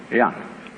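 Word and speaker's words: 仁: In Confucius philosophy, the fundamental virtue of a human being is called Ren, spelled J-E-N for reasons best known to Chinese scholars. I don't know what they are, but it's pronounced Ren.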